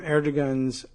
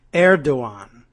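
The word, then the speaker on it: Erdoğan: have squandered the advantages to be gained from Erdogan's contempt for Trump, according to both European and Middle Eastern intelligence sources.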